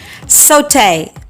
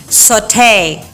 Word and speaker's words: Sauté: Sauté. Sauté. Sauté. That is the British English pronunciation, while this one is the American way. Sauté.